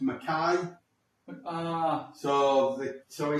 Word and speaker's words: McKay: One of our friends, Tony, gave us all nicknames because my surname is McKay, but it's pronounced McKay.